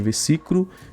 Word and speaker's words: versículo: Versículo, que não existe versículo. O certo é versículo.